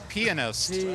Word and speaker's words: pianist: Keith Emerson pianist there are three I believe there are three syllables in that word of the even more